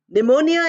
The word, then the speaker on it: pneumonia: instance we have pneumonia pneumonia is not pronounced with P although it is written with P we say p in